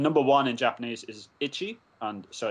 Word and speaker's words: ichi: And number one in Japanese is ichi, and so it's Eco, so it's one thing.